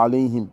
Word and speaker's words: عليهم: D'abord, c'est le A grave dont ça sort de la gorge. Alayhim. Après, nous avons les lettres français L-A-Y, ça va encore. Mais le him, c'est le ha de ihdina.